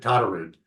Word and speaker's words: Todderud: oh no no problem you were super close pronounce it tar rude tude there we go um John is another